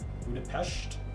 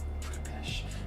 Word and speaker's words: Budapest: No, it's pronounced SH, not S. Austria, Budapestt. What are we talking about? Budapest. Budapest. Oh, it's Budapestt. Really? Budapest? No, you're wrong. Local citizen alley. Uh, it's called Budapest.